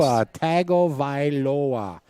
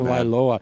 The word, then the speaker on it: Tagovailoa: Almost. Tua Tagovailoa. That's Hawaiian. You got to talk in syllables, you guys.